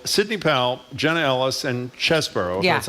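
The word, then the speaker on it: Chesebro: these three people Sydney pal Jenna Ellis and chesboro that's how you pronounce are going to jail it seems to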